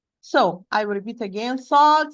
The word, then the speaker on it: ص: Sad, Sin, and Zay, they are pronounced tip of the tongue with the lower central incisor from inside, precisely the lowest part of the inner part.